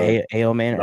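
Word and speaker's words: Ayomanor: Ell a manor or a manor.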